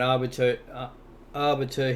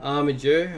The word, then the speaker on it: Armiger: We have Royal Guard as our nuker, and Arbiter here, Armiger, I should pronounce it, is here as his block revives on the minions, and we'll get straight into it.